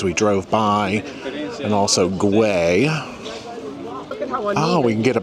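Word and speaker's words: Güell: Well, we have made our way up to the park guay area. That is gu u e l pronounced guay.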